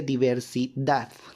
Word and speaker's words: diversidad: diversidad sino se pronuncia diversidad no es cierto el golpe de voz está en la última sílaba por eso es que